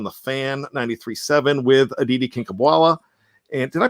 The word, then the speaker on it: Kinkhabwala: This was brought up on the Andrew Filipponi show on the Fan 93.7 with Aditi Kinkhabwala. And did I pronounce that right, Shannon? Mm-hmm. Kinkhabwala?